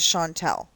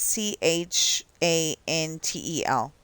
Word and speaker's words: Chantel: C, you know, it's C H A N T E L. Um, even when I spell it that way, it says Chantel instead of Shantel.